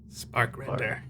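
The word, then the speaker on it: Sparkrender: name was spk rer spark render spark not bark like a dog spark rer I thought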